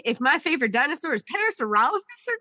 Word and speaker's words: Parasaurolophus: Do we just I pronounce it parasaural office, but that's okay.